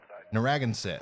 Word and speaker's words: Narragansett: is it uh no ragged narraganusset dragons regensit narragansett i hope i'm saying that right we're gonna